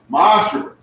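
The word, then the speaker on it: ma'aser: It means 10th in the Hebrew and is pronounced ma'asher.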